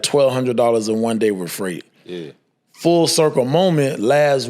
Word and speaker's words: Frayt: It's called Freight. It's spelled Frayt.